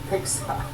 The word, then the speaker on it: PGSA: Persian Gulf Strait Authority, PGSA, pronounced PIXA.